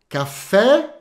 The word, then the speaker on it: café: exemplo jeromo um bebê le cafê fe fe café em português cafê frc e fechado tá para